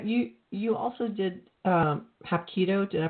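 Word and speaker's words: Hapkido: Now, you you also did um Hap Keido. Did I pronounce that right?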